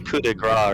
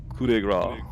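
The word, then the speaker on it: coup de grâce: We found it with another team that You can do a coup de grace or something if he's just.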